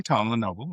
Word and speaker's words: Tom LeNoble: So, I pronounced your name correctly, Tom Lenovo, right?